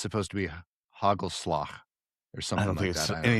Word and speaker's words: hagelslag: Hagelslag. That's perfectly Yep.